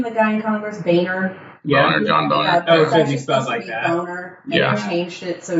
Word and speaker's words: Boehner: The guy in Congress, Boehner.